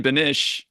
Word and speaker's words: Beneche: Our special guest today is Ben Beneche, and his firm is Tourbillon Partners. How did I go with that pronunciation, Ben?